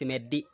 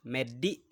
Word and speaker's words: medi: Uh the next word is medi. Here all the free languages have laziness in pronouncing fully. So you will have two versions. So the correct word is medi in all the three languages.